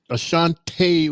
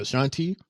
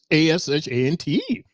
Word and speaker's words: Ashante: It's Ashante, the Adonis. Ashante, what I said, Ashanti? Well, it's ASHANTE. It's the same. Ashanti. Ashanti is with an I. So it's Ashante.